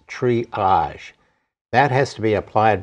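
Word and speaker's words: Tree-age: There is a material called triage, T-R-E-E-A-G-E. So it's pronounced triage.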